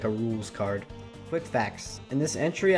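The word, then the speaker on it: Roulxs Kaard: d and i think i said something like rolex cards i don't even know what i said but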